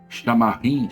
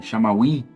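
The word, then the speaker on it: שמיים: uma palavra inclusive Hebraica chamada shamim shamaim né algo pronúncia próximo a isso que significa céu ou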